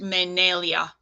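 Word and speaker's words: Menelya: position for heaven's day which is pronounced menelia menelia we then go down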